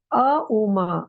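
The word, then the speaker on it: ॐ: तरफ तो भी आप अम का उच्चारण कर सकते हैं अ उ म अम का उच्चारण एक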